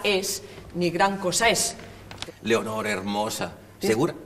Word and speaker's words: Leonor: es Leonor hermosa segur Leonor son dos sílabas eh No puede ser Leonor No no cómo es Aunque tú en la calle digas Leonor hermosa aquí tiene que ser Leonor porque si no no sale una sílaba de Leonor y una pequeña pausa